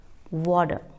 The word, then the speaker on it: water: we pronounce it like water it is not water hibiscus terrace a merengue water here toss on is changed into death sound because T is in the middle of two vowel sounds next word is tomato